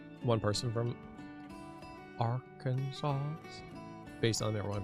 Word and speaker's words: Arkansas: The last S is silent? Arkansas. Arkansas.